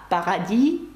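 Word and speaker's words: Paradis: з літерою с наприкінці це приголосна вона не вимовляється і параді французькою - це рай До речі співачку Ванеса параді насправді Як ви бачите звуть Ванеса Рай Яке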